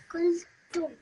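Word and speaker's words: qultum: So qul tum. Repeat after me. Qul tum. Kultu, Qul tum. Kultu, Okay, this over here, you have to produce a meme sound at the end. Tum. Kultum, Perfect, much better, okay?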